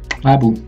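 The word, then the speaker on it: !Xabbu: Rainy happens to receive a new student called, let me try to pronounce it properly, Abu.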